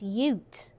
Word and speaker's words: ute: a potential problem says did you just pronounce uh yutei as yutei it's ute but thank you for